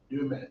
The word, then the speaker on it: demain: Demain, that's not proper. That's Creole French. You sure? No, it's demain. Demain? Demain.